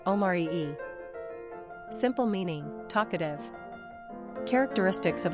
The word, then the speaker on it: Omari: Number of syllables, 3. Ranking popularity, 730. Pronunciation, Omari-e.